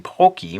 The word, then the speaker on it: Pocky: people may be saying, how come you're not saying Pocky? You keep saying Pocky. Well, I'm using the Japanese pronunciation. And it does sort of look like it should be pronounced Pocky in English, but if the Japanese, when they write it out in katakana, it is Pocky.